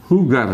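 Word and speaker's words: jugar: bermain itu bahasa Spanyolnya hugar ya tuh sor ini a hugar hugar bermain ya bermain sport untuk bermain permainan yang lain hugar hugar bacanya hugar ya Nah kalau gitu caranya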